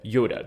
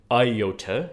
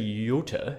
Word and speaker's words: Iota: then we have Yoda this is not by the way Iota as we um tend to transliterate that into Modern English oh not an iota of this or that was missed it's actually Yota as I recall um so